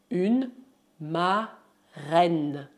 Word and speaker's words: marraine: Além disso, padrinho se diz un parrain et uma madrinha se diz une marraine. Une marraine. Lembre-se que em francês, R duplo se pronuncia como R simples.